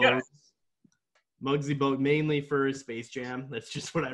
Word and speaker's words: Muggsy Bogues: Does his name rhyme with Bugsy Logs?